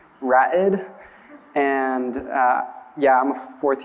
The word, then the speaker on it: Ra'ed: It's like rapid without the P, Ra'ed.